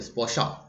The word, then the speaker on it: স্পশা: স্পশ, ঠিক আছে, স্পশা, এগুলো যেহেতু আহ, উম, সংস্কৃত টার্ম, সেই জন্য উচ্চারণটা একটু অন্যরকম হবে, স্পশা।